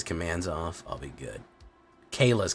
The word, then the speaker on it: Kayla: off I'll be good Kayla's commands not Kai's command apologies for mispronouncing it a fable mirror breaker